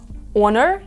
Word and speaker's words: honor: H є наприклад слова Honor і Happy в обох H на початку але в слові Happy во вимовляється як х а в слові Honor ні так само в слові Ghost